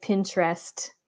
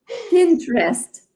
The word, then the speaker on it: Pinterest: Puis les autres, un bon dernier, ce serait Pinterest. tu vois, nous autres, on dit Pinterest en français ou Pinterest en anglais, mais le E du milieu, il est comme absent, là, de ce que C'est j'entends.